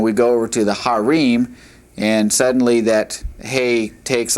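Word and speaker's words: הרים: The first one is the word for mountain which is pronounced har and mountains plural would be harim.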